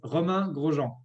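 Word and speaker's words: Romain Grosjean: So is it Romain, Roman? Is there a roll of the tongue that we can't do as Hoosiers? How should we be pronouncing your names so we do it correctly? I think that's a challenge. That's a challenge, physical in the car for me is a challenge. And for you pronouncing my name right will be your challenge. It's Roman Grosjean.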